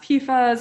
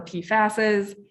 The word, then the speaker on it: PFAS: get us started so pfas sometimes pronounced pifas or pfasses this stands for per